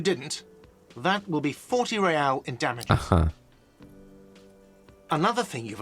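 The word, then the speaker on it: réal: you owe me 130 real he pronounces the r with a muck aristocratic accent the iir or inter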